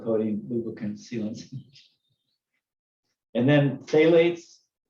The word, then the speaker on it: phthalates: lubricant sealants and then phthalates i think that's how you say you don't pronounce the ph in that maybe right uh they use